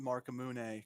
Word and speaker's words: Marcamune: I pronounce it Marcamune, kind of like the Masamune sword from Final Fantasy and whatnot.